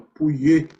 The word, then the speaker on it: Pouillet: Tem uma lei chamada Lei de Pouillet, né, que é de um francês, se escreve Pouillet, mas se fala Pouillet, que, na verdade, se você parar para pensar, é uma consequência da lei de Ohm.